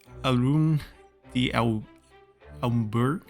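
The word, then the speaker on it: d'Alembert: we got Jun batist Alum the umber there's a lot of letters in the end there that you don't pronounce and we're caught cheating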